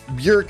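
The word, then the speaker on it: Björk: I Bork is like the like the actual way you're supposed to pronounce it. So sometimes that does slip out of me, but ordinarily I'm I will say Borc because when American I think colloquially Yeah, it's fine.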